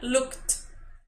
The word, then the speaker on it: looked: Entonces, look, con ed al final, looked, looked. Entonces suena como una T, looked.